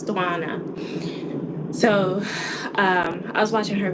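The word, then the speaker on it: Setswana: Yeah, it's Swana.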